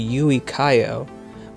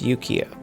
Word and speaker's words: Yuikayo: This specific line of robots were called the Yukio or the U-Zero, named after a Rakua Windy fairy tale creature called the Yuikayo, whose name was typically mispronounced as Yukio.